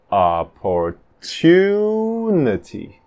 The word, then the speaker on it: opportunity: Opportunity. Terceira do fim. Two. Opportunity.